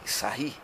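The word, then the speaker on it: Sarrus: uma regra de sair se escreve sarros mas como cidadão era da França a gente tenta a ir chegar próximo da pronúncia francesa tá regra diz aí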